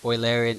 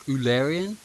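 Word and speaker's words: Eulerian: in circuit called oian if you pronounce oian as like oil o i larian path not ulian anyway so we're looking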